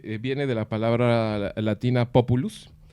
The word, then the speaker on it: populus: La palabra pueblo viene de la palabra latina populus, que no es populus. Populus es un árbol. Hay que tener cuidado ¿sí? con esa pronunciación.